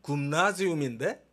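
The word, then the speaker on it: Gymnasium: 바로 이제 발음상 이제 영어로는 이제 Y를 E 발음으로 짐이라고 그러는데, 이제 원래는 이제 굼이에요, 굼.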